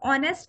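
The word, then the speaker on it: honest: का sound right या हम ऑनेस्ट का रहे हैं तो इसमें एक साइलेंट है और ओ का साउंड ए रहा है तो इस तरह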